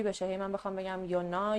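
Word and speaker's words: Jonna: اسم رو توی سوئدی یونا تلفظ می‌کنن و این اسم رو هم یوناس حالا یا یوناس نمی‌دونم ولی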